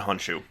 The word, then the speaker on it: Honshu: Like Han Solo shoe that you put on your foot. Honshu.